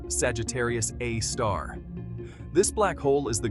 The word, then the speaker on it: Sagittarius A*: At the center of our Milky Way galaxy lies a supermassive black hole known as Sagittarius A, pronounced Sagittarius A star.